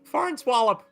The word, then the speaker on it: Farnswallop: Farnswallop. Farnswallop. It's an N. Like Nancy.